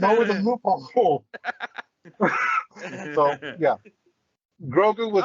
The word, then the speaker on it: Grogu: pronounced So Grogu. Get it Grogu.